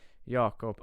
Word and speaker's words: Jacob: Jacob appt uh I don't know if that name is Swedish Norwegian or like anything else but in a Swedish I'd say yakob appt so good it's good